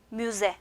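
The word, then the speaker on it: müze: 뮤제 하면 박물관이 됩니다. 요 Z 발음 정확하게 내주시면서 뮤제, 박물관.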